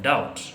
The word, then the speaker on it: doubt: students a verb like doubt we say that doubt is spelled as d o u b t and b is silent don't say i am